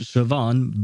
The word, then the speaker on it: Siobhan: Uh, her name is pronounced Siobhan, but it's written s i o b a uh b h a n or something like that, which makes no sense. So, where is the v sound coming from?